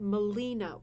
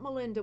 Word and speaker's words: Molina: course for maine but molina white so not melinda with a d molina no d absolutely gorgeous work you've